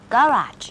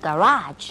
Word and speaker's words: garage: เสมอนะคะเพราะว่าบันไดนี่จะมีหลายขั้นไงถ้ามีขั้นเดียวไม่เรียกบันได เรียกอะไร ยกระดับ อย่างนั้นแล้วก็ garage อันนี้เน้นพยางค์หลังนะ ไม่ใช่ garage นะคะต้อง garage นี่แต่ว่าออกเสียงถูกหมดก็คุยลื่นนะคะไม่ว่าจะเป็นฝรั่งหน้าไหนก็ตามทีเถอะ ไปคุยกับฝรั่งหน้านี้ก่อนฮะคุณเดวิด James Brady is in London.